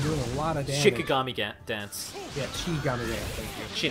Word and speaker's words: Shikigami: Shinigami dance. It's actually Shiki. Yeah, Shikigami. I said it right the first time, then you... I thought you said Shinigami. No, Shikigami dance.